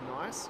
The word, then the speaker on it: Nice: It is not known as Nice, it is Nice. That's how they pronounce it.